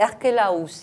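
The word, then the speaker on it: Archélaüs: se réveille, oui, il n'a pas été crucifié, lui, dépose Archélos. On prononce comme ça, Richard? Parce que j'ai Archélaus. hésité, Archélaus, hein, je Ouais.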